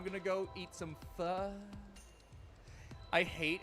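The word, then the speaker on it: phở: I'm going to go eat some fur. I hate how it's actually pronounced.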